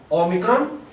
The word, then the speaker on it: Omicron: here in ox so we have Omicron which is O exactly like in ox now for some strange